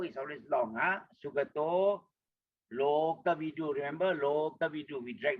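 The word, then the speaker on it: Lokavidū: And then long U, like we say, O is always long, Lo, okay, don't forget to drag your lo there. O is always long. Loka vidu. Okay, U is a long U there. Loka vidu.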